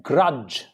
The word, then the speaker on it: grudge: Then grudge. No D. Grudge. Grudge means to dislike somebody.